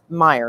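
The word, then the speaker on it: Meijer: we had we have a store called Meyer not Fred Meyer but it's spelled like em e IJ e are like major but it's a grocery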